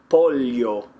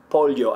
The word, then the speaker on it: pollo: They'll pronounce the double L like that. So chicken would be pollo, pollo.